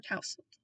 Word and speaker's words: tousled: a hand through his tousled hair. Or tousled, some people say it like that.